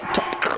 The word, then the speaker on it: TOTK: It's a very unique way to say it, but that's how you say it. TOTK.